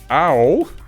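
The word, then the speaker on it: Ao: and we got i ow that's pronounced owl like oh i got a bruise um the dawn sky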